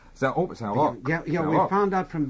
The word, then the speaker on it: Saint-Roch: Saint-Roch. Yeah, we found out from the Quebecois. There's a town just outside of Quebec City, and you must say Saint-Roch, even though it's spelled R-O-C-H, in this particular case.